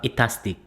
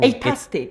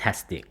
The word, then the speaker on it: Eightastic: Kiran used to call it Itastic. Fantastic. It's right. Yeah. No, Atastic. it's Atastic. Fantastic. Yeah, but she would say she would pronounce Itastic. Fantastic. Yeah, she was like, "Oh, welcome to Itastic."